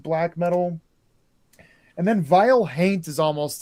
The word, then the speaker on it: haint: color that they call haint blue. Haint, of course, being the southern pronunciation of haunt, like their word for ghost.